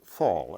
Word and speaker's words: FOL: Now, the first and foremost among those tools is the language of first-order logic, FOL, or FOL, as Dave pronounces it.